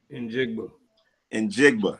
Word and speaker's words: Njigba: How you pronounce that? I don't want to mess that up. Njigba.